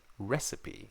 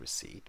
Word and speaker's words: receipt: um anyway rece now the p is silent so many of my students they do say recipe instead of receipt because they just for